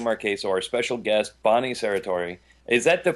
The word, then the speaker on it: Serratore: and I'm Marquesa our special guest Bonnie Sarah Tory is that the correct pronunciation Bonnie yeah you got it right thank